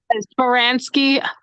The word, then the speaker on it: Baranski: Baranski.